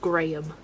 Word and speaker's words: Graham: way, it's Craig and Graham. Mainly because my dad's name is Graeme. But where have where have all the syllables gone? American English. Graham.